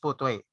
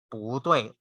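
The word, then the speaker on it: 不对: So you just have to ano lang, when you really when you encounter these syllables, both are in the fourth tone.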